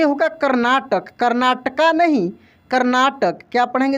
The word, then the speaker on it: कर्नाटक: देखेंगे जानते हैं, कर्नाटक, ऐसे कर्नाटक होगा, ना कि कर्नाटका। देखिए ए लगा है लेकिन ए का प्रोनाउंसिएशन यहाँ पे नहीं हो रहा है।